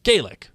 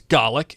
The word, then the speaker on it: Gaelic: have to say this Gaelic when pronounced with a long a is Gaelic and that is Irish Golic when pronounced with a short a is Golic and that is Scottish I love you all